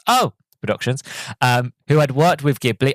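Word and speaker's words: Oh! Production: You have to say it like that because it has an exclamation mark, so it's O Productions, who had worked with Ghibli on past projects.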